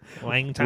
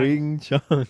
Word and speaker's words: Wing Chun: Shut the up with the Wang Chong, Say it right. Wang Chong. Wing Chun.